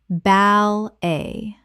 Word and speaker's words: ballet: cam-a-flage camouflage Word 207 ballet common mispronunciation bal-a correct pronunciation bal-a Two syllables with the t completely silent. from French Example She started ballet